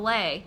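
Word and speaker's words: lei: and if they're lucky the occasional lay and that's pronounced that spelled le I like the yeah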